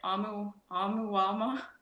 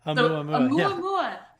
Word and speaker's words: Oumuamua: Amuamua. Oumuamua.